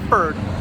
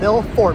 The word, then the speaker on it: Milford: say this town wrong they're always saying fur for some reason Mill Ford anyway we're not actually out here today to talk about how you correctly pronounce f o r d you don't drive a fur truck you drive a Ford truck anyway right here now